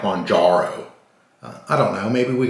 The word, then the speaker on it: Mounjaro: but they were and I'm going to try to pronounce it Monaro uh for that one person but I got to be honest with you uh I was watching a nausey newscaster and they kind of pronounced it mongero too munaro was relased in Australia last year so sounded like murro anyway uh didn't sound like monjaro I don't know maybe